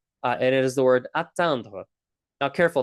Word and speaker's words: atteindre: It's another very high frequency word and it is the word atandra. Now careful, it's not pronounced the same asandra.